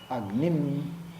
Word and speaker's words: Agnim: Right, and now you see why I'm doing Agnim, because this is the Udatta, this is the accent of the word. Agnim Ile Purohitam.